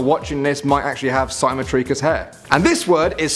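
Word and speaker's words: cymotrichous: So some of you guys that are watching this might actually have simotricus hair. And this word is spelled C Y M O T R I C H O U S.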